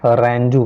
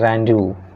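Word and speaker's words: rendezvous: दोनों गलत हैं और इसका उच्चारण जो है रैंडू करके किया जाता है रैंडू ठीक है और इसका हिंदी मीनिंग अगर देखेंगे तो मिलन स्थल या सभा का स्थान कह सकते हैं।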